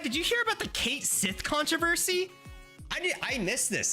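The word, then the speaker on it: Cait Sith: so get this right the Final Fantasy 7 official remake pronunciation of this character is Kate Sith and everybody lost their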